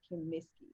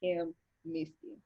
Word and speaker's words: Kimmiski: So my name is Kimmiski. It's pronounced exactly how it looks. Yeah. It's Kimmiski.